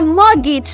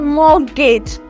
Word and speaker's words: mortgage: note of it no in transcription and it pronunciation so my mortgage not morgage note this mortgage my mortgage have orage morgage